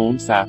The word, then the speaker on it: Hamsa: En la India, que fue invadida por los musulmanes durante siglos, se lo llama mano unsa, una manera de pronunciar Hamsa.